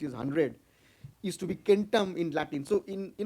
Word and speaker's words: centum: 100 used to be kentam in Latin so in you know now we call it Centum in Latin but in in Original Latin pronunciation it used to be kentam and in Greek it